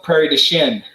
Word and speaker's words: Prairie du Chien: but we call it Prairie du Chien. So there's lots of French influence in place names, but we don't pronounce it the French way anymore.